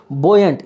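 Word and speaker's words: buoyant: आया है यहाँ पे, इसको बोलते हैं बोयंट, यू यहाँ पे साइलेंट है, बोयंट बोलोगे।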